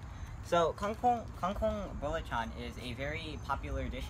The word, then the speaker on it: belacan: the packaging actually serves Bela Khan but the pronunciation is birla tongue so cool Hong Kong bullet John is a very popular dish in Malaysia if